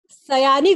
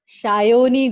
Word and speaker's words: Sayani: दूसरा सयानी गुप्ता नहीं, शायोनी गुप्ता।